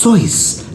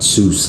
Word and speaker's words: Seuss: I didn't let that stop me, though, so I used my middle name, Seuss. Seuss. No, gentlemen. It's pronounced Seuss, like voice, not Seuss, like moose.